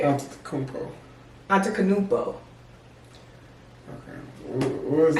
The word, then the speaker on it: Antetokounmpo: It's been over the last few years because I'm a fan of Giannis Antetokounmpo, period.